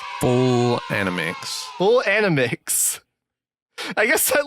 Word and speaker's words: FullAnimics: have full anim an how do you pronounce that animix full animix full animix I guess